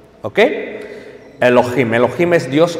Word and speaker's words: Elohim: Elohim, no. No es Elohim, es Elohim. ¿Ok? Elohim.